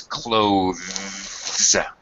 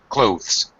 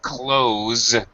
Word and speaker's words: clothes: dictionary pronunciation rather is clothes clothes one syllable however to make it a lot easier on everybody 99% of all English speakers just say close with a z sound exactly the same as